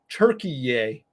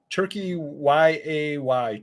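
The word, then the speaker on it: Türkiye: that stuff and it now they're pronouncing it turkey yay turkey y-a-y turkey yay so now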